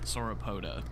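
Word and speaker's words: Sauropoda: So if you hit V, you're going to hear sorapota.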